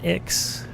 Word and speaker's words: Ix: And we don't know where it came from, except we know it came from Ix, which is a planet that's not pronounced 9.